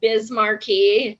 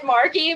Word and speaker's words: Markey: that's that's not okay i love how you say it like bismarcky ed markey i thought it was did i say bismarcky no but that's what it sounds like like i think it's ed markey but you're like ed markey